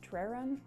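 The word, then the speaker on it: Treron: So, we took the pharaoh and ball, I think it's pronounced traron, t r e r o n, that's it.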